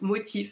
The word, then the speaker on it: MOTF: en deux trois mots c'est quoi la marque motive donc mtm ça se prononce motif la marque soeur haut